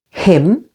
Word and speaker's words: hymn: N is silent after M, as in the words autumn, with the stress on the first syllable. Autumn. Hymn.